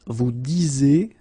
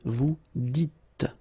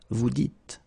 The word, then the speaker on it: vous dites: So it's not vous disiez, okay, as many would think, but then it's vous dites, okay, final S not pronounced, vous dites.